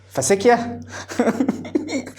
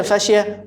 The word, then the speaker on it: fascia: هنا بيقول لك الفاشيه، انت كنت عالي بتنطقها ازاي؟ فاسيكيا. طيب ماشي، اسمها فاشيه يا جماعه.